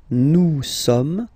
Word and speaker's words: nous sommes: Nous sommes, okay? Nous sommes, okay? So you don't pronounce the final S here.